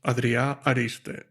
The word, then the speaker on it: Adrià Ariste: it right yeah so my name is pronounced adria ariste lovely and you're you're